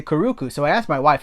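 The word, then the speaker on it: Curucu: years I was like do you think that that she that this would be kurusu or kuruku and she was like well a hard C uh actually a soft C would never come before a u so it's got to be kuruku and I was like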